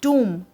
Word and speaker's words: tomb: Buildings and sculptures like Swaminarayan Temple, India Gate, Jama Masjid, Lotus Temple, Humayun's tomb. Pronunciation is tomb, okay, and spelling is Tomb. Remember this. And tomb, a place to bury someone.